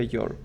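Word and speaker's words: you're: Y su contracción se escribe así, que se pronuncia your.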